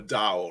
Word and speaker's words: DAO: speaking about it what is a d.a.o a dao right um explain it to us in layman